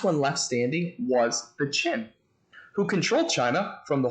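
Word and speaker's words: Qin: that i want to talk about is the chin emperor now i know this looks like it's pronounced quinn it's pronounced now during the period of the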